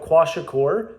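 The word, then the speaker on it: kwashiorkor: into that on this video there's something called quasa cor which is spelled k w a s h i o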